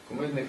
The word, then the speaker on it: кумедних: випадків дуже багато випадків правильно наголос кумедних випадків Справа в тому що